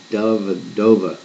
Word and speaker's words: Dellavedova: lot of things of that name what okay Dellavedova it that's how you pronounce it so McConnell Jones and Dellavedova now